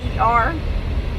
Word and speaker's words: Bossier: And a lot of people mispronounce Bossier because it's Bossier. And if you pronounce it the French spelling, it's Bossier.